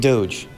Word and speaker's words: doge: Mom, it's pronounced meme and doge.